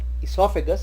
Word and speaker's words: oesophagus: call oesophagus, we call esophagus because O is silent.